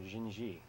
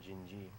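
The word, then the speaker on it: Dindi: This is a song called Jinji. D-I-N-D-I, but in Portuguese you pronounce it D-S-G in certain circumstances, and this is one of them, Jinji.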